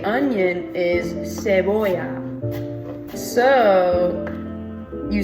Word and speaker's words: cebolla: that in Spanish, how you say onion is cebolla. So you spell it in case you want it, that makes it easier to pronounce. It's C-E-B-E-L-L-A. And you pronounce it cebolla.